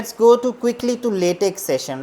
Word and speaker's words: LaTeX: It is pronounced as latte or latte. Okay. It depends upon your pronunciation and accent. But it is not latex.